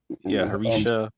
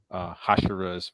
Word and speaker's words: Hashira: Harisha or whatever. Hashirama. Yeah, yeah, I keep calling her Harisha. Come on. Yeah, I did finish the last arc for that. The Harisha. How do you pronounce it? Hashirama?